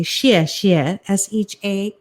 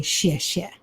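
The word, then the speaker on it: 谢谢: So as you say xie xie, S-H-E-A, some places phonetically write X-I-E, but I use it like it sounds, not S-H-I-T, but S-H-E-A, and say xie xie, thank you.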